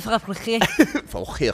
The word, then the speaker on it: Fabergé: How do you say that word, Fabergé? I think you hit it. As a woman who understands the diamond egg industry, that would be Fabergé.